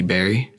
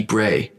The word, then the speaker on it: Bray: So I had representation by a woman named Jackie Berry. Oh yeah, Jackie Bray. Bray.